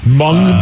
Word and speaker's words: mung: had mung beans before mung beans yeah sticks yeah it doesn't mung doesn't sound good because it rhymes with dung but they're pretty good